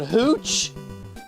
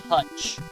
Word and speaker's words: Hooch: I'm being told it's pronounced Hutch. No, no, it's Hooch.